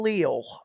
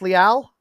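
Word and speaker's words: Leal: a guy that's not coming up online demarvin leel uh it's looking like they might be oh yeah yeah yeah yeah okay oh it's pronounced lial yeah they you draft a guy at that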